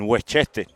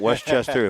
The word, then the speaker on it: Westchester: beautiful fall morning in wete in W this is wet you have to say it like that it's not Westchester W home of the best